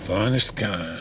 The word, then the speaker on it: Finestkind: Finestkind.